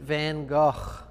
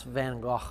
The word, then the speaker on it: Van Gogh: just call him vincent if you can't pronounce van gogh right i don't think i'm even doing it right van gogh he would have he's spinning in his grave if he heard you pronounce his name van gogh he got you'd be